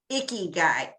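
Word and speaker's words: ikigai: and right now i got a book called icky guy and it's spelled i-k-i-g-a-i and it's a japanese word where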